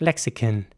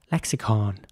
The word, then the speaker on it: lexicon: O at the end in British English it would be more like lexicon with a kin sound at the end and an American English it would be more like lexicon with a r sound